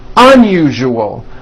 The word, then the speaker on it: unusual: Put your hand on your throat and feel for the vibration in the second syllable. U-ju-o. Now put it together. Usual. Usual. Like that. Okay, now try unusual.